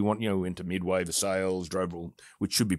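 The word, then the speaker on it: Versailles: and so we want you know into Midway viles driver which should be pronounced verai but I digress you're not the first person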